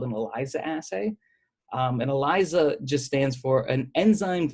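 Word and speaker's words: ELISA: little iso assay and eliza just stands for an enzyme linked immunosorbent assay the Z gets thrown in there from the immuno absorbent even those an s but we print it's spelled Eliza or something like fret that's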